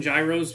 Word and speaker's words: Gyros: it's the only word it's the only Greek derived word that starts with g y r o that we don't pronounce with a soft G um yeah I'm not